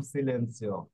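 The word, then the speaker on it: silenzio: ইয় রয়েছে হ্যাঁ ওকে জাত অক্ষরের পরে যদি ইয়া ইয়ে ইয় থাকে তাহলে জাত অক্ষরের উচ্চারণ স এর মতো হবে ওকে এরকম সিলেন্সিও এরপর হ্যাঁ শব্দে যদি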